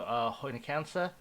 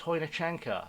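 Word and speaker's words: Chojniczanka: Julian Trokhanovsky has gone to Hoynikansa. It's Hoynichanka. I remember we had a whole thing where I learned how to pronounce that.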